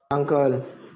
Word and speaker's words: uncle: Uncle. Uncle ya. Uncle. Ini paman ya. Cara membacanya uncle ya, bukan ankle ya. Kalau ankle itu bagian kaki, pergelangan kaki itu namanya ankle. Ya. Jadi bacanya uncle bukan ankle ya.